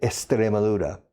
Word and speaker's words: Extremadura: En español se dice Extremadura. La X delante de un consonante se pronuncia como un S, según la Real Academia de la Lengua. Pero en inglés no. Los taxis de Extremadura son expensive.